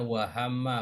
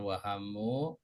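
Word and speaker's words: وَهَمَّ: Perhatikan ini bacanya wahama bukan wahamu.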